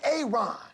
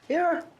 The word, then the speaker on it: Aaron: A Aon. Aaron. Why didn't you say it the first time I said Aon? Because it's pronounced Aaron.